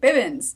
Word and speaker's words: Bibbins: My last name is pronounced Bib, like baby Bibbins. Yeah, I said it right. Bibbins.